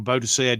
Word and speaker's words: Boadicea: Goes Boudica or Boadicea, depending on which way you want to pronounce it.